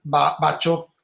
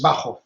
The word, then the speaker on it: Bachof: Es escrito Bachoff, pero por favor nunca pronuncien en alemán la CH como che, la CH se pronuncia G, entonces nunca digan Bachoff, porque además suena terrible, es Bauhoff, ¿no?